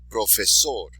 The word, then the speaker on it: profesor: When words end in a consonant, except for N or S, because we already covered N or S, so consonants except for N or S, place the stress on the last syllable.